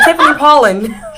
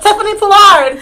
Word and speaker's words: Tiffany Pollard: I was about to say Tiffany Pollin. No, Tiffany Pollard. She makes. Damn, did I say her name wrong?